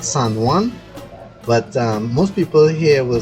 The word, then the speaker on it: San Juan: pronunciation for this area the correct name is San Juan Saint John all right so San Juan should be the proper name but I'm pretty much